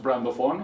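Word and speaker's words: BRANDOFFON: My vision for brands and my word is brand of on, and it's pronounced brand of on all together.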